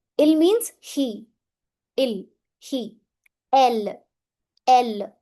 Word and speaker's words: elle: Elle. Elle. Never elle a. No. Elle.